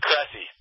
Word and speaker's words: Cressey: It's Cressey.